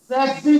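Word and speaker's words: tsetse: अच्छा, इसको वेटलेरियन कैसे बोलेंगे, टी पहले को साइलेंट बोल देंगे, सेक्सी फ्लाई पहला साइलेंट कर दिया, सेक्सी फ्लाई। कुछ डॉक्टर जो मेरे खुद के फ्रेंड हैं वो इसको बोलते हैं, दोनों को टीटी को साइलेंट कर देते, कहते हैं सीसी फ्लाई।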